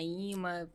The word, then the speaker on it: imã: nem ouviu falar na imã, tá ouvindo falar hoje? Tem um Instagram do ima, é ima, é e e m a e se pronuncia imã, né?